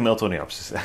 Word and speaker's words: Miltoniopsis: Like I said, Miltoniopsis they do like the Miltoniopsis, I should say it like that.